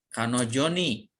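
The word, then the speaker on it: 彼女: Ini dia untuk perempuan, dibacanya kanojo. Ini huruf kanjinya, kanojo. Lalu di sini kariru, meminjam.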